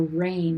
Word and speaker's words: reign: straight across from there to rain the king reigns from his throne r-e-i-g-n why in the world is there a g there well it comes to us from a reg noon meaning kingdom or kingship and the g is retained from that right below that you'll